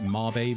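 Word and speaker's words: Mabe: Luckily in in uh May village or I think I don't think it's called it's not pronounced May village it's pronounced like Marbay village or something like that but I've always called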